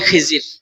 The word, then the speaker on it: খজির: সাক্ষাত হল তিনার নাম খজির আলা সালাম নাম কি আমরা বলি খিজির যে নামই বলি না কেন সঠিক উচ্চারণ হল খজির আর এমনে আমরা বলি